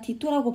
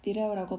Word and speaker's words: Ditto: 어떤 분께서 얘들아 디토라고 발음하는 거야, 디레오라고 발음하는 거야? 둘다 맞습니다.